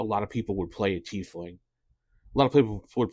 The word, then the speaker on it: tiefling: flings and I know a lot of people pronounce it Ty flings but the official pronunciation is a tling for this when we played up as far